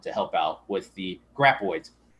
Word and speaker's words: graboids: help out with the graboids. Said it right this time. Nope. Graboids. You said graboids. Graboids. Okay? Graboids. Sorry, everybody. Sorry, Tremor fans. I always say it wrong.